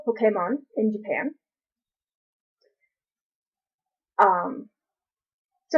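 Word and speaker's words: Pokémon: not create the name Pokemon okay mom the accent is on the EE you emphasized the e it's short for well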